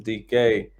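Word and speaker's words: Dike: But let's talk about Shamir DK. And yes, I said his last name right this time. Y'all ain't going to catch rhymes with bike.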